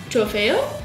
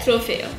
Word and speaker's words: trofeo: Trofeo? Is that how you say it? Trofeo.